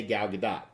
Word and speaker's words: Gal Gadot: late night hosts and she said the t is pronounced so I'm gonna trust the person who owns the name a little bit more than a random Youtube comments so I say Gal Gadot however I'm very excited